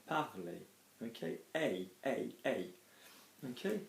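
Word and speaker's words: parler: out another vowel afterwards we don't pronounce the R so we're not saying parlor we're saying partly okay A A A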